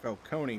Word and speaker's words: Falcone: was really good it it was supposed to be pronounced Falcone but they just called him Falone I mean I know